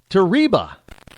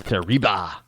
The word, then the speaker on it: Teriba: Well, here's this woman by the name of Annie Teriba. Uh, T E R I B- A and And if you want to pronounce it in a certain accent, it sounds like terrible.